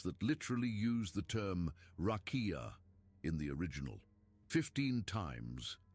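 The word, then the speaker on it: רקיע: That word is rakia, pronounced rakia. And here is the detail that completely changes the way this topic is usually treated.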